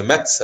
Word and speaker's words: Metz: On m'a dit qu'on dit Metz, c'est mon premier jour. Je dis Metz alors que le T ne se prononce pas. On dit Metz.